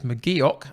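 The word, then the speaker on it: McGeouch: bench of devlin hayes mcgeok i've been reliably informed it's mcgeok that's how i'm supposed to pronounce it campbell mcclellan ross and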